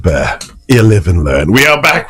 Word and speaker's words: Bexar: san antonio texas pronounced bear don't ask me i'm just a dumb immigrant but thanks for the correction whoever called in whoever texted shadrach okay we get it bexar b-e-x-a-r is pronounced bear 11 learn we are